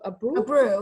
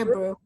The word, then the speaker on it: Abreu: your name so um abreu a brew yeah you could say a brew a brew yeah and